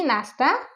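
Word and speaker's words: know: आयम हविंग breakfast मी नाश्ता केलेला आयम हविंग breakfast okay next आहे केन डब्ल याचा प्रोनन्सशन होते नो इथे डब्ल हा सायलेंट आहे म्हणून याच प्रोन्सशन नो होणार आहे नो मीन्स माहित असणे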